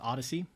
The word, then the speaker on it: ODCE: odce which is the it's pronounced Odyssey but this the this